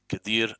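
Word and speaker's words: Qadir: of the camarilla Kadir is pronounced with a Q so q a d i r Kadir as asay is pronounced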